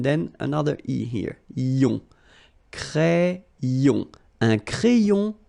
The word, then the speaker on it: crayon: Crayon. Un crayon à lèvres. Un rouge à lèvres. Same thing here, final S not pronounced, and then this E accent grave here, it gives you the really open sound.